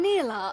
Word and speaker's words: Nilah: prepare yourself Joy will not falter I am Nila of the seventh layer let us begin oh Nila I've been pronouncing it the wrong way tell the other